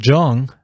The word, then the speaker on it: Jung: Psychoanalyst Carl Jung proposed a more natural explanation. It's pronounced young.